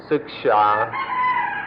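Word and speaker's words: śikṣā: คำว่าศึกษาในภาษาไทยมาจากภาษาอินเดียบาลีว่าศิกขาสันสกฤตว่าศิกษามาเป็นภาษาไทยเราเรียกว่าศึกษาเราจะเอาความหมายเดิมของคำนี้มาทำความเข้าใจกันคือคำว่าศึกษา This word siksa in Thai comes from an old Indian word which in Sanskrit is pronounced siksha, or in the Pali language sikha, and we preferred to use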